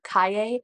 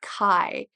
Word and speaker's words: Kai: main characters Ava and Kai or Kaye the audiobook says Kai so that's how I'm going to pronounce it during this video and they